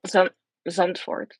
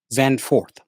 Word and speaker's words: Zandvoort: Now, the one thing about the track pronounce it for me, Naomi, so I won't mess it up. Zandvoort. Zandvoort.